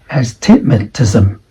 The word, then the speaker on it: astigmatism: So according to the IPA symbols, it should be like astigmatism. Okay, that is the correct pronunciation.